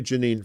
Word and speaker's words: Jenin: Jenin, like Jenin. Okay, so I was saying it right. Okay, I'll say Jenin from now on.